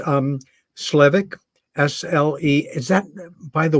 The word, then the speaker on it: Slevik: wonderfully organized and um totally professional it's um slevik SLE is that by the way have I been miss pronouncing your name throughout no I think you're